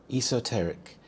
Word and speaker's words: esoteric: Eoteric. The stress is on the second syllable t. Eoteric.